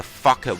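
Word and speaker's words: Focke: We'll have more than enough weapon energy to take down the Bond's new mech, the Fckin Wolf. No, I didn't say the F word. It's spelled out F-O-C-K-E, Wolf.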